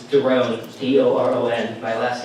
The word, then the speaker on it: Doron: My name is really hard to pronounce. It's Doron, D-O-R-O-N.